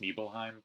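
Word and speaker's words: Nibelheim: by piece right after nible ham was burnt I think it's supposed to be pronounced nebelheim but not gonna do that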